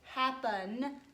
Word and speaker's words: happen: We tend to say happen, so we want to think to spell that E right there. Happen. You're not going to hear this first P, and this is a verb.